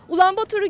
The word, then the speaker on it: Ulaanbaatar: Ulaanbaatar'ı gezmeye hazırsanız başlayalım. Kendilerine Mongol, ülkelerine ise Mongolia diyen Moğollar, başkentlerini Ulaanbaatar diye telaffuz ediyor.